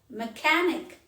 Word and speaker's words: mechanic: ache stomach ache mechanic mechanic ch is pronounced as color mechanic today i have called